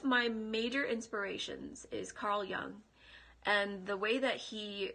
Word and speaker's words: Jung: yeah carl jung um so his last name is spelled j-u-n-g his full name is carl gustav young and he was a